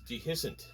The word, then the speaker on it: Dehiscent: your rock and roll band the the proper pronunciation is dehiscent d-e-h-i-s-c-e-n-t and your music is kind of more